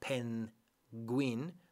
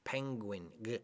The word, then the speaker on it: penguin: snake this one penguin the difficult thing here in penguin is that we do not really separate the N and the G when you pronounce penguin it's not pen Gwynne like in Spanish pen Queen it's penguin so the N and the G is almost like the ing when you say like the ng and ing when you